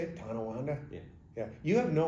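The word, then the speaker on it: Tonawanda: tananda so is that how you say it tananda yeah yeah you have no Western New York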